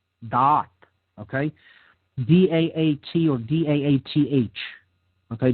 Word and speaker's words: Da'at: It is positioned in what is called the realm of Da'at. Da'at. Okay? D-A-A-T or D-A-A-T-H. Okay? Depending on how, different schools of Kabbalah spell it.